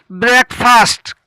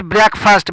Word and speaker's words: breakfast: The next word breakfast. Correct pronunciation is breakfast. Breakfast नहीं.